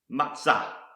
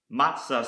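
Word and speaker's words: מצה: Malek or sovereign the next Hebrew word is pronounced matzah matzah some of you may be familiar with his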